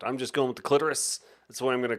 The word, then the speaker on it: clitoris: it like Dolores too you can say clitorus if want I'm just going with the clitoris that's why I'm going